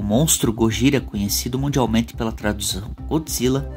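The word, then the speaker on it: ゴジラ: Assim, os japoneses tendem a pronunciar Godzilla como Gozira, que dito rapidamente por eles fica Gojira.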